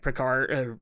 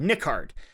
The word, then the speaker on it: Nickard: was interested in Lieutenant Picard, or not Picard, Nickard is how you say it, Lieutenant Nickard.